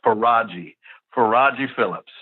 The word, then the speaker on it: Faragi Phillips: I will go ahead and give you the pronunciation it's for Raji for Roger Phillips who was the former head coach at Whitehaven